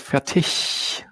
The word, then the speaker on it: Fertig: And turns out this is more the dialect tongue speaking here, because in proper German it's called Fertig with a ch sound at the end.